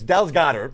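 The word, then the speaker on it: Dallas Goedert: It's Dallas Goddard, first of all.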